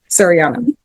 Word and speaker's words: Sariana: Serini, how do you pronounce it? Sariana.